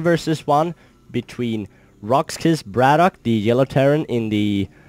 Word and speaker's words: BratOK: uh setup but anyway bradoock is um it's pronounced bradoock not Brado K but just to notify that um it's pronounced